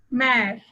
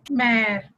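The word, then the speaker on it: mère: For example, mare. In this word, E has an accent grave over it, so it is pronounced as A. So, mare, which means mother.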